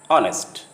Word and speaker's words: honest: In some words, the H sound at the beginning often is not pronounced. For example, honor, hour, honest.